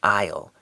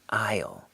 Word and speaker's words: aisle: term here is an aisle don't pronounce the S an aisle this is Elaine where